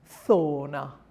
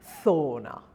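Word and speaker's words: zona: Z is also a soft sound. It's a TH, th, and it's thona. It's pronounced thona.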